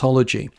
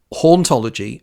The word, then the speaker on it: hauntology: created the world word hology but it's cleverer than that because in French the H isn't sounded so hology as it is written